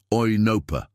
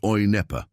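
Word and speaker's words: οἴνοπα: It's oinopa, not oinepa."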